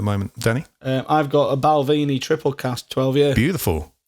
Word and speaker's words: Balvenie: going at the moment Danny I've got a Balvenie triple cast 12 years beautiful in a triple